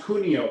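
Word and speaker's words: Cunio: on mute hey your last name is pronounced kunio correct yes sir italian style okay so um let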